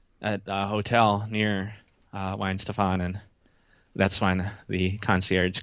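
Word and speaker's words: Weihenstephan: bit while you struggled I didn't I didn't call it Weezy Steven but I after after hearing that uh video I sent you where people are mispronouncing it um I'm gonna brew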